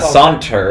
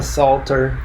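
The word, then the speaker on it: Psalter: the salt Terror yeah it's not a saunter it's from a Salter a Salter yeah from the Psalms a Salter and then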